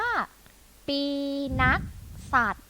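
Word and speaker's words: ปีนักษัตร: ได้ ไหม คะ นี้ นะ คะ อ่าน ว่า ปี นักษัตร เด็ก ๆ อ่าน พร้อม คุณ ครู กิ๊ก อีก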